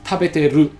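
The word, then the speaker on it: 食べている: real quick is that many Japanese people just leave the I away when they pronounce this. So instead of tabete iru, they just say tabeteru. So they don't say the I in the iru.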